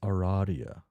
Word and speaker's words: Aradia: It is pronounced Aradia.